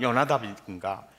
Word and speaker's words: 요나답: 근데 왜 여기는 요나답인가? 히브리어 발음상 호는 묵음입니다. 그래서 여호람, 요람, 여호나답, 요나답 같은 이름입니다.